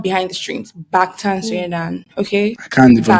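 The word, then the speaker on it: 방탄소년단: No, it's Bangtan Soyendan, which is back, like not behind the streams. Bangtan Soyendan. Okay, I can't even pronounce that.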